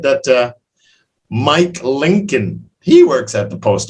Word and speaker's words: Lincoln: but that's a hard one l-i-n-c-o-l-n-col but it's pronounced lincoln yeah were his parents happy to see him